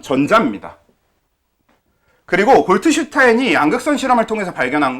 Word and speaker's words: 골트슈타인: 톰슨 이전이었던 거 맞는 것 같은데 여기가 골트슈타인이라고 하는 사람이 골드슈타인이라고 부르기도 하는데 독일식 발음으로는 골트슈타인이 맞고요. 근데 영어식 발음으로는 골드슈타인이 맞아서 아무튼 이렇게 쓰이는데 이 사람은 양극선 실험이라는 걸 해요.